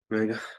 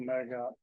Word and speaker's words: Murger: Well, yeah, well, it's usually just accepted, but Murga, I go when you seconded it. All right, mover. And I just spoke to make sure that Michael Murger is the correct pronunciation.